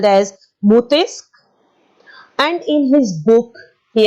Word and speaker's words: Montesquieu: He is pronounced as Montesquieu. It is a French name, children. It is called as Montesquieu.